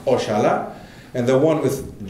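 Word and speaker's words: oxalá: have one with j the one with x is portuguese which is pronounced ochala and the one with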